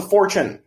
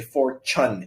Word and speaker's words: fortune: continue it costs a fortune um keep this word in mind for Chen this is this this T you don't say Fortune you say four Chun it's a cha um Fortune is like